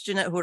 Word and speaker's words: Jeanette Jurado: next up we have Jeanette Jurado I mean if I pronounced that correctly yes you did English it's Jeanette Hood although but Dorado works well I I I I